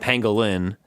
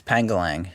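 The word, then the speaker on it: Pangolier: he's a Pangolin but his name is not Pangolin it's panglang ya think it's Yap angling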